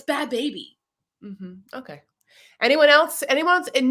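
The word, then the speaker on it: Bhabie: law that it's bad barbie and she keeps saying bad baby okay look it's spelled b-h-a-d which is bad and then it's b-h-a-b-i-e there's no r this whole time her stupid-ass name was baby i thought it was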